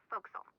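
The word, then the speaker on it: forecastle: ship, but it's pronounced folks. Why is that? Try pronouncing it like an English sailor with no formal education.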